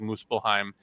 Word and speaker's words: Muspelheim: Because there's like, for example, there's that one realm, I think it's pronounced like Muspelheim, or is it? No, you're right. You got it.